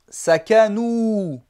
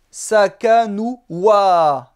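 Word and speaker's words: سَكَنُوا: On va prononcer sakanu et non pas sakanu wa.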